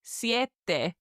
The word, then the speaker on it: siete: 7 is siete. S-I-E-T-E. Siete. 2 very clear syllables there, siete.